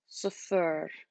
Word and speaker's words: صفر: So صفر. And the double R is just to remind you to roll your R.